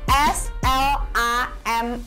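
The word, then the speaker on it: slammed: eh spelnya spellnya adalah s l a m m e d seperti itu banya gimana tuh nah untuk Bacanya adalah Slam Oh Slam pakai POP sound Ya teman-teman poah ini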